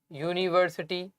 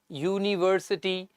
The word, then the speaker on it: university: okay because uniform Universal University unit although although these words start with a vowel but the sound of these words are of consonant okay when we pronounce